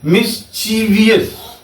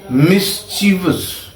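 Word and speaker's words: mischievous: मिसचीवियस। इट is wrong pronunciation. Always be alert from this. This is मिसिवस। How will pronounce it मिसवस इट इज नॉट मिसवियस और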